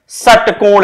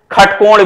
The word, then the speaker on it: षटकोण: मान लीजिए लिखते हैं षटकोण, लिखते हैं षटकोण, कुछ लोग इसको खटकोण भी पढ़ते हैं, पढ़ने की बाध्यता नहीं है, अपने अपने अनुरूप पढ़ा जा सकता है। स का भी उच्चारण होता है और ख का भी उच्चारण होता है।